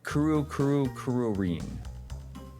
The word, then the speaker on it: Kururin: It's pronounced Kururin. That's what Cheesemeister says.